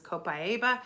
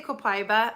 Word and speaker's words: copaiba: sorry if it's backwards this is copaiba I've heard people say copaiba I don't know if that's an accepted translation or a pronunciation or not I've always heard copaiba so that's how I pronounce it but this is an